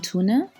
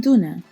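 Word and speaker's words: տուն: Aramin tuna in Eastern Armenian, Arami duna in Western Armenian. We know that the pronunciation of the word for home, tun or dun, will change based on the alphabet.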